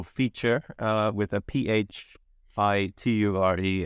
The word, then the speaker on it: Phiture: talk a little bit about you uh what's feature and what do you do there uh sure yes so I've been uh been doing the thing which we call feature uh with a Phi t-u-r-e it's it's kind